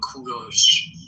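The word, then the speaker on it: کوروش: English people call him Cyrus, but in Persian we call him Kuros.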